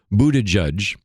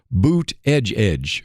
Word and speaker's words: Buttigieg: And one of those, she said, is Pete Buttigieg used to say that you pronounced his name Buttigieg. But when he's now become national, he's changed it. And now his crowds chant boot edge edge, boot edge edge.